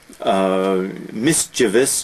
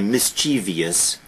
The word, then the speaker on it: mischievous: Mischievous, notice the spelling, notice the pronunciation. Universally misspelled, mispronounced. Because Americans will always say mischievous, but there is no I there, there is no E there.